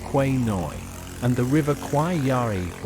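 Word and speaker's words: Khwae Noi: The city of Kanchanaburi is nestled at the confluence of two major waterways, the River Kwai Noi, in Thai pronounced Kwai Noi, and the River Kwai Yari or Kwai Yari, each with its own unique character and historical importance.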